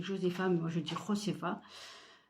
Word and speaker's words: Josefa: Donc Suzy, elle a 17 ans, elle vit avec sa mère, Josefa, ça s'écrit Josefa, mais moi je dis Josefa.